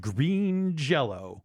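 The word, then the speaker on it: Green Jellÿ: a movie we got green jello sorry green jelly apparently it's still pronounced during jello even though the change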